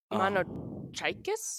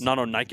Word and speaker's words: Mononykus: Mononykus? Mononykus. Well, think of the Greek. It's pronounced the same sort of way, like Chiron.